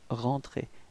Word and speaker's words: rentrée: But then rentrée, you can see that you don't pronounce this final e, it's rentrée, elle est rentrée, okay?